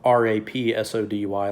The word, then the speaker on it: Rapsody: Rhapsody's verse, her rap, and also it's spelled Rapsody, like Rhapsody, which I think is pretty funny.